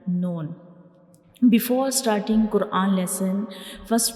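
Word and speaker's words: نون: The noon is pronounced when we touch the tip of tongue to the gums behind up front two teeth.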